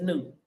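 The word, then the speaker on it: Nuit: And I don't know how they pronouncing it, but I know it as Newt, the N-U-T, not the N-U-I-T.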